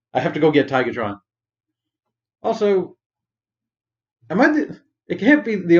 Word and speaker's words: Tigatron: Also, it can't be the only one who thought growing up that his name was Tigertron. What do you guys think? Did you pronounce it with the hard ER or the?